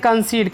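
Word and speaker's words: concede: तो आगे देखते हैं कंसीड माने होता है सहमत होना। तो इसमें भी देखिए सी के बाद EDE आया तो ई का उच्चारण बड़ी ई होगा, लास्ट वाले ई का उच्चारण नहीं होगा।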